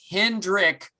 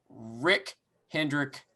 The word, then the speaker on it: Hendrick: x and x okay there's no s at the end of hendrick it's pronounced rick hendrick anyway that is up